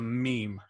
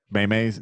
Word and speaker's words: meme: has agreed it's a meme yeah maymays no cuz it's actually based off a Greek word like meme actually means